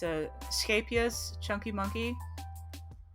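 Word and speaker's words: Scheepjes: It's a Scapious Chunky Monkey. I don't know how Americans pronounce it, but that's how I pronounce it. Because that's Dutch. And I'm Dutch.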